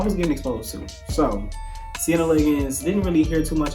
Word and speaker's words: Siena Liggins: And I think I pronounced that right. Let me check my sticky note. Yes, Siena Liggins.